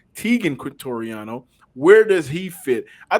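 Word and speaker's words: Teagan Quitoriano: Tegan Quintoriano.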